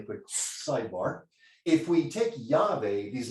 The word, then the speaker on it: Yahweh: So typically in English, we can also add some vowels and pronounce this Yahweh.